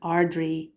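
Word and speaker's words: Ard-Rí: Banreen is the queen, and Ardri is the high king. So and Banreen Chinny. So that's how you pronounce the court name titles.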